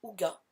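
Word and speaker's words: hygge: Autre livre qui a rejoint ma palle, alors rien à voir, enfin vous allez me dire, il s'agit de le livre du Haïgi, prononcé Ouga.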